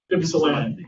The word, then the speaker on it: Ypsilanti: Yes, yeah, it's pronounced Ypsilanti.